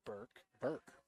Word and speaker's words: Burke: And Burke and Tui are the other ones that I would have pronounced it Bork, as in Ray Bork, but he pronounced it Burke.